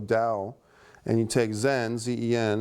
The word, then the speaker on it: Tao: the words Dao um which is spelled Tao although it's pronounced Dao Dao and you take zen